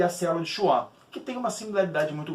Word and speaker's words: Schwann: oligodendrócitos e a célula de Schwann, que tem uma similaridade muito grande.